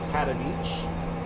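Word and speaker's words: Katowice: going to be the cat on each which is spelled k-a-t-o-w-i-c-e the w sounds like the V when you pronounce polishing so cattle Beach to um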